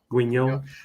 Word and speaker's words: Guignol: For the most of it, I guess it was really like watching is it pronounced Grand Guignol? Guignol.